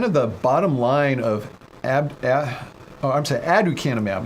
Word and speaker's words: aducanumab: the bottom line of aducanumab. I was saying it wrong the whole time. I was putting a B in there.